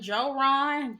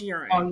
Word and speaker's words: Joran: I was calling him Joon Joe well in with names like that the J is pronounced as a y so it's Ur oh Ur oh exactly my